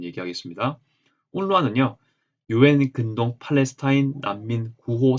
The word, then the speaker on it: UNRWA: 여기 운루아라고 제가 이제 발음을 할게요. 아랍어로도 알운루아라고 발음이 되어 있습니다.